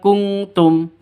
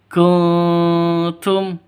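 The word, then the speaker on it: كنتم: In kuntum, jadi bacanya bukan kungtum ya, bukan kungtum, tapi kuntum, samar.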